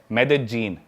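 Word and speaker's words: Medellín: उसकी एक सिटी है मेदजीन। स्पेलिंग में उसमें डबल एल आते हैं। मेदलीन होता है लेकिन कोलंबन स्पेनिश में ल को ज बोलते हैं।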